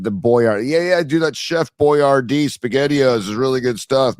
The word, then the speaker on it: Boyardee: Now, can we just at least pronounce it correctly? Where if you wanted, it's Chef Boyardee, not Boyardee.